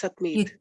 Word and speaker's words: Satmeet: we pronounce the T. It's Satmeet.